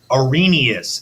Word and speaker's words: Arrhenius: behavior of acids and bases yuning using this Arrhenius is how you say that say with me